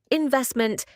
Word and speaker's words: investment: This one is often mispronounced because of the stress, especially with native French speakers. So how would you pronounce that word? Try it. Okay, now listen to it. Investment. Investment. Investment.